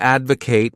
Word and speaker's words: advocate: verb is to Advocate this word has three syllables and the stress is on that first syllable Advocate to Advocate means to show strong